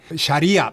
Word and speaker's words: 샤리아: 이슬람법을 우리가 샤리아라고 하는데 샤리아 발음은 정확히 하면 샤리아 리가 길죠.